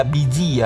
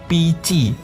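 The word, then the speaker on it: Bi Ji: memiliki nama yaitu PCI Jangan dibaca biji ya tapi cara bacanya itu PCI jadi b-nya dibaca p j-nya dibaca c jadi P PCI adalah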